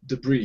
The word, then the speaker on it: debris: good just remember uh this s is silent yeah debris ah debris yeah yeah